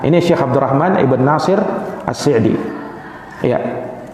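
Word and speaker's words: السعدي: Syekh Abdurrahman IBN atsir AC di ya AC di itu dikasroh korupsinya Sebagian ada yang membaca dengan ashadi jadi ada yang membacanya Syaikh Abdurrahman as-sa'di ada juga Syaikh Abdurrahman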